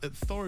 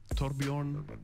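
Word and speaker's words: Torbjørn: It's not Thor is like the easy way of saying it, but like the original name would be Torbjorn.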